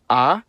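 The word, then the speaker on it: а: The cerillic version is called ah and makes the sound a uh I won't say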